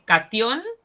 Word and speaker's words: catión: Es catión y anión, con acento en la Sí, O. Acá no está, pero lleva acento, ¿sí?